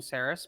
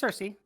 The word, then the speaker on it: Cersei: and who Cersei uh well it's not I wasn't meaning sarus but um is that what we're sticking with how it's spelled it's it's Cersei Cersei and I'll give you